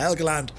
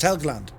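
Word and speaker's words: Helgeland: i was looking at helga land or higaland helga land illegal land but i think it's pronounced helgland it was so beautiful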